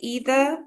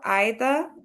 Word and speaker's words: either: So you can say either or either, both are correct.